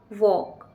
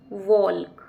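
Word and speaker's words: walk: यहां पर फिर से जो एल लेटर है वो साइलेंट है यानी कि एल यहां पर चुप रहेगा इसीलिए इसलिए इस स्पेलिंग का प्रोनंसिएशन होगा वॉक ना कि वॉल्क डब्ल्यू ए एन टी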